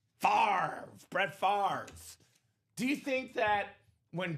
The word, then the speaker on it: Favre: Hey, we got your boy Brett Favre down.